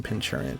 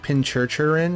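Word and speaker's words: Pincurchin: Now I know that I'm mispronouncing Pinchurin, but it's like Pinchurchurin or something like that.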